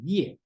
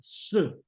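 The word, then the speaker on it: 葉: I think if you read some translation may translate as ye, Duke ye. Okay, but actually this word should pronounce it as sir.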